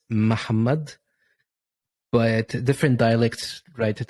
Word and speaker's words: Muhammad: It sounds like your first syllable is unvoiced.